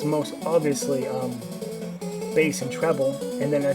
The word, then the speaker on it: Bass: just um just mentioning a base um is this commonly uh mispronounced as uh bass and uh and it